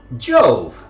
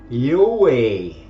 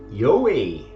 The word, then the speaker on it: IOVI: get there okay so the proper ancient Latin pronunciation of I OVI is not Jo it is not Yi it is actually yoi yoi which sounds extremely similar to Yahweh and